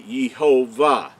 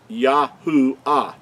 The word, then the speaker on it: Yahuah: So I wanted to show show you that so you make sure that you understand that the creator's name could not be Yhovah. It's Yahoo.